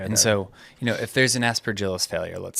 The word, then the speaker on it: Aspergillus: And so, if there's an Aspergillus failure, let's say. Aspergillus. Aspergillus. Okay. Soft G.